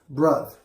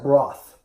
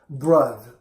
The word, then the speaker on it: Bruth: And this is a band called Bruth. It looks like broth, but it's not broth. It's actually pronounced Bruth, like brothers, which is kind of a horrible, kind of a dumb name, really.